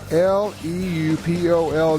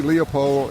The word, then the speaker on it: Leupold: Leupold, by the way, is Leupold. And if you want to see Leopold, it's okay, but it's Leupold. That's right. It's Leupold. That's how the family pronounces it, but we understand there